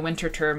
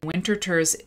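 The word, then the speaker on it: Winterthur: linda eaton for the winter term museum uh in 20 2007 she wrote uh selections from the winter third winter tour i think it's pronounced winterter collection um winterter does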